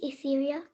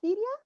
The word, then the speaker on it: Ethereal: My name is Ethereal. Okay. Syria? Ethereal. Ethereal? Yes, Okay. ethereal.